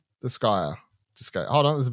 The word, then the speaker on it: Disgaea: Disgaea 7, Vows of the Virtuous.